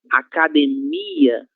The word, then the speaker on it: academia: A primeira palavra, nós já vimos, academia, no português será academia, certo?